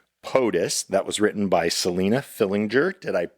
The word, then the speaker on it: Selina Fillinger: to be performing PUS that was written by Selena Fillinger. Did I pronounce that correctly?